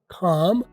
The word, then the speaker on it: calm: जवाब, we remain calm नहीं लिखा हुआ है, calm, आपने बोलना क्या है, सी की आवाज फटेगी, एल साइलेंट होगा, calm, we remain calm and